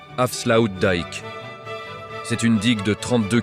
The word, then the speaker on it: Afsluitdijk: Son nom, c'est l'avslu dick, prononcé Afsloud Dik.